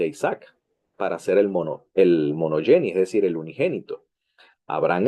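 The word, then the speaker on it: μονογενής: La palabra, interesantemente, es la palabra monogene o monogeni, ¿ok? La palabra depende de la pronunciación griega, si es erasmiana o reucliniana, ¿ok?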